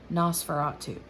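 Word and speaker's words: NOS4A2: number four the letter a and then two nosferatu so i had never heard of it before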